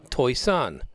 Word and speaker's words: Toisan: Toisan, not pronounced like it's spelled.